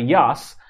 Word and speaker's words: Yas: again you also had yas which made landfall in the balasore region of urisa cyclone originated from the bay of bengal yas obviously pronounces ya's got its name from